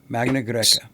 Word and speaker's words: Magna Graecia: And southern Italy was I'm going to get my pronunciations wrong. Magna Graecia or Magna Graecia. It was southern. Magna it was Greek. Greca. Magna Greca.